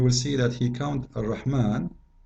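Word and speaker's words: الرحمن: It is Ar-Rahman with alif, not without alif.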